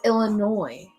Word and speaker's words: Illinois: yes there is no it's illinois there's no way s in there you don't pronounce it here in washington they say like oh i'm going to visit illinois they say the s you guys are all